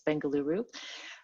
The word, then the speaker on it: Bengaluru: flowsphere you're located in bengaluru india which i learned today is a different pronunciation than bangalore what people are might be used to but the new name is bengaluru you are also an